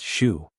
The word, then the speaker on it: SHU: Inside this fortress, over 1,000 inmates would be housed in the security housing unit, the infamous shu, pronounced shu.